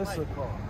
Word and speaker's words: Issachar: Issachar.